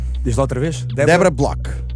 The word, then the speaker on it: Bloch: Débora Bloch. Block.